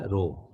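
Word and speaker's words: ρ: तो ये जो है क्या होता है, आर एच ओ, रो, इसको कैसे प्रोनाउंस करते हैं, रो, आर एच ओ, ओके।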